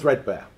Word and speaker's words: 3DBARE: so first of all it's uh it's called threadbear um well that's how we pronounce it and I'm going to run you